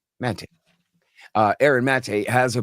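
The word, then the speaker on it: Maté: Mate who is uh it's actually Mate. I always say it wrong. It's just like the name Matt with a a on the end. Mate uh Erin Mate has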